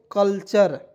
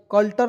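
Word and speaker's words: culture: इसे क्या पढ़ दोस्तों कल्चर सी यू एल टी यू आर ई कल्टर नहीं पढ़ेंगे कल्चर सी का उच्चारण क के रूप में ठीक है क आधा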